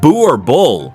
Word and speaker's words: Boerboel: The Burr Bull, pronounced Boo or Bull, has a history as mighty as its stature.